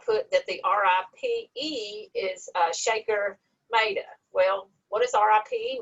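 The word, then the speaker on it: Shekhar: And something funny about his name, it is Shaker, but it is spelled like Shakar.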